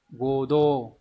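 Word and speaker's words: 合同: Đọc là Godo.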